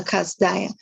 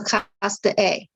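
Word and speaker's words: כשדאי: Okay, this thing about la kasdaya. But in fact, it's pronounced la kasdae.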